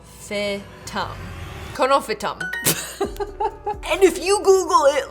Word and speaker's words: Conophytum: How to pronounce? Conophytum.